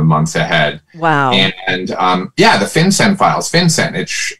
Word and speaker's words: FinCEN: The FinCEN Files, is that the how FinCEN it's pronounced?